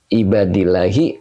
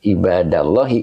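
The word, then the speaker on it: عبادِ اللهِ: akhir bu ya Ustaz kok ibadillahi bukan ibadallahi ya Kenapa dibacanya ibadillahi Karena ahabunya jadi mubtada wahua mudof maka ibadi mudof ilaih mudof ilai itu ngejer bu ya ngejer makanya dibaca ibadi wahua mudof Allahi mudof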